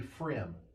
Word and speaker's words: Frigm: Oh, it's spelled Frigm, but you say Frim in case Oh, you're scared to try.